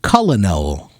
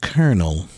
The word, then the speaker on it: colonel: the English language colonel it looks like it's should be pronounced cullino or Colonel but it's pronounced kernel which is Goofy hello